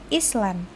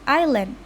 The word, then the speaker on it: island: islan is very beautiful the word pronounced by the speaker is islan while the actual form is island this shows a deation process says D.